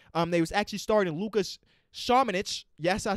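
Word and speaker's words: Šamanić: They was actually starting Lucas Shamanich.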